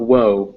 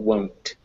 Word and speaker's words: won't: Oh, And on the word won't, you want to make sure that you actually do pronounce that won't. okay. So make sure it's not woe, but won't.